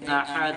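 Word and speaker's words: أَحَد: আচ্ছা, উচ্চারণটা আরো ক্লিয়ার করতে হবে প্রিয় ভাই, আহাদ গলার ভিতর থেকে, হ্যাঁ, আহাদ আহাদ, আহাদ।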